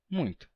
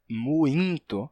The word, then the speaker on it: muito: Você está escrevendo muito, assim como temos em ainda ou em Coimbra, né, que é com M no caso, mas tem o mesmo efeito. Coimbra, ainda. Então, para representar essa pronúncia,